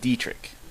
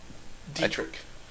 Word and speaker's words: Dietrich: Okay, really quickly, Christopher says it's pronounced Dietrich. So okay. Dietrich. I think I. Dietrich sounds better. Dietrich? Dietrich. No. That's how it's spelled. Well, no. If you were pronounced like that, it'd be Dietrich. But no, it's Dietrich. Anyway, yeah.